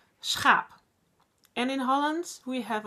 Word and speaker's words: schaap: And you say it like schaap. Schaap. I know for a lot of people, in a lot of languages, you don't say the word, you never say g. It's from here.